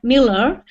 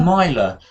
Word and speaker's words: miler: the world's leading junior Miller was chosen. That's not a Miller because Miller would be double L and this is a Miler. Miler and a Miller.